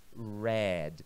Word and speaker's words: read: A pronúncia agora fica red. Professor, a mesma pronúncia da cor vermelha é a mesma pronúncia.